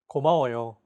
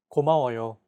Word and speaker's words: 고마워요: 고마워요. 고마워요. Each syllable is pronounced for an equal amount of time.